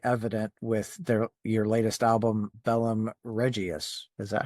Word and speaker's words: Bellum Regiis: is really, really evident with your latest album, Bellum Regiis. Is that how you say it? It's Bellum Regiis.